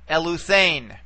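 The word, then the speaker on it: ἐλύθην: All right, now remember, eta is a long vowel, okay, so our accent can only go back one syllable from the eta. So we will bring it back to here.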